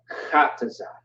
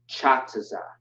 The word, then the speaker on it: Qadash: This is ka, not cha. Never say cha, always say ka. You want to be aggressive with it. Like, for example, we have a captain, a strong captain in the U.P.K. Captain Qadash, right? Qadash, not Chataza, right? It's not cha, it's ka, okay?